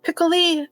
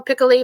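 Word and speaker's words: Piccoli: It's a really good um thriller and she plays um it's also um Michelle Pickley um I think that's how you say it and would be the French way of pronouncing it.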